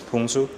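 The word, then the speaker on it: 풍수: It's like a Chinese thing, like feng shui. We pronounce it as Pungsu.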